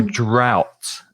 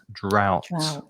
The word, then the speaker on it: drought: pronunciation is quite difficult it's ow the same sound as in now or cow or wow so drought drought and then we have